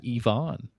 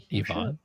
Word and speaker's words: Ivan: He said that's the Russian pronunciation.